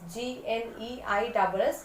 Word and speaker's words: gneiss: It is pronounced as gneiss, G-N-E-I-S-S, gneiss, quartzite, marble.